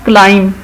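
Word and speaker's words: climb: इसी तरह क्लाइम, जो पहाड़ पे चढ़ना, दरख्त पे चढ़ना क्लाइम कहलाता है, इसमें साइलेंट है बी।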